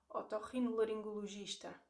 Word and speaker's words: otorrinolaringologista: Otorrinolaringologista.